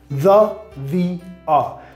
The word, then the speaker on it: the: Normalmente, la forma más común de pronunciar la palabra the, sonido schwa al final, labios relajados, mandíbula abierta, the Bruce Springsteen. ¿Cuándo lo pronunciamos así? Cuando la palabra siguiente empieza con sonido consonante, ¿ok? La otra forma, the, el I que tiene en español, labios girados hacia atrás.